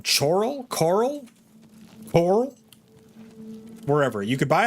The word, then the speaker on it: Chorrol: Chorrol. Okay. Chorrol.